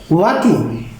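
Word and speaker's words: walking: এখানে আছে ওয়াকিং, এখানে এল বর্ণটাও সাইলেন্ট।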